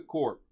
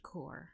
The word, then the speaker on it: Korg: welcome to the Korg the court it's pronounced cor I know I did